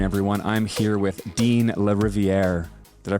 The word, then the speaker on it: Lariviere: and good afternoon everyone I'm here with Dean Le riviere did I pronounce that right that's right okay great uh